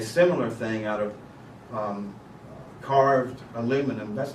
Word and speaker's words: aluminium: They made up a similar thing out of carved aluminum. That's not what the machinists call it. Carved aluminum is what? It's milled. Milled aluminum, aluminium, as the British say.